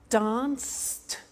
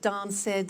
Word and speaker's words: danced: look at that watched danced eliminate the e pronounce the t danced laughed washed and walked okay now the temptation is to say watch it dan said la fed wash it